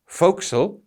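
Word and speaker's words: forecastle: and please note it's spelt for castle but pronounced foxel and this is a raised part on the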